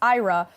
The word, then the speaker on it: IHRA: This year, Sweden holds the rotating presidency of the International Holocaust Remembrance Alliance, or IHRA, pronounced IRA, under the banner of